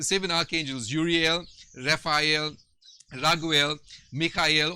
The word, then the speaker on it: Mikhail: archangels uriel raphael raguel mikhail or michael as most of most of us will pronounce it in english sariel gabriel remyel uh